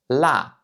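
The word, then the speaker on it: 辣: veut dire épicé et qui se prononce la la donc encore une fois 4e ton ici la la par exemple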